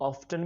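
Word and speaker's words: often: मैं उससे अक्सर मिलता हूँ, आई ऑफन मीट हर। अब ये वर्ड जो है इसको कुछ लोग ऑफ्टन भी बोलते हैं, वो भी प्रोनाउंसिएशन ठीक है।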